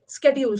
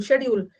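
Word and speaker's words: schedule: स्केड्यूल, शेड्यूल, शेड्यूल हम British में बोलते हैं, स्केड्यूल अमेरिकन में बोलते हैं।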